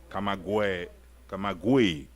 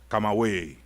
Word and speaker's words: Camagüey: Camagüey. Okay. Camagüey, right? Camagüey.